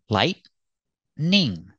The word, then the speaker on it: lightning: about this word lightning pronunciation lightning two syllables lightning lightning is also